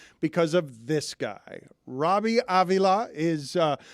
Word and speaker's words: Avila: of this guy Robbie Aila is uh I pronounce that with a Latin flourish are you Hispanic do